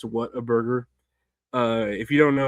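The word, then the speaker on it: Whataburger: I know a lot of Mexican girls like saying Waterburger, even though it's What a Burger.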